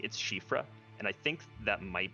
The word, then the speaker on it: Siofra: Because they've got that weird, like, it's not Siofra, it's Shifra, because it's like a Welsh, I think.